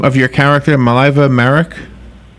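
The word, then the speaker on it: Mileva Marić: First of all, did I pronounce the name of your character, Mileva Maric? Mileva Maric. Mileva Maric.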